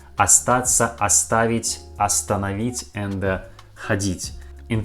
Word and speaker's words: Остаться: we pronounce this word you see that that first letter in this word or or but we pronounce this word like ah ah astaxa a stats not or stats it isn't correctly we pronounce like astaxa the same time you